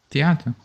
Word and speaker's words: Theate: Theate.